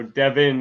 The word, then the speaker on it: Devin: Yeah, Devon is like the Black Lady way of saying, yeah, because that's how it would be pronounced in English. Devin is pronounced like how I spell it, so Devin and Devon are different.